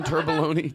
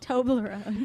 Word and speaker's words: Toblerone: Turboloni? Chocolate stuff. Toblerone.